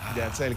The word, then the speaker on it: Yatzel: Con Z-E-L, Yatzel, quiere decir Dios provee en el libro de números.